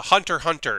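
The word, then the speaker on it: Hunter × Hunter: cross street fighter but in the case of hunter hunter the x is silent and it's just called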